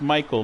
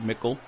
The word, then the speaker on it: Michael: blaze and oh what it's pronounced michael not mickel you said he said